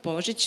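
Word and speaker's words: Božić: my name is Portage last name is pronounced in serbian portage but people pronounced Bozek as well it means Christmas so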